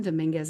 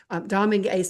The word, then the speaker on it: Dominguez: Pam, if Pam Dominguez is on here, Dominguez, sorry, I said it wrong. I found out her name is said like a meringue, Domingue.